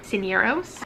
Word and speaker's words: Cisneros: Cisneros. Cisneros. Well, I don't have that accent. So you pronounce the S, basically. Cisneros. I can't roll my R's.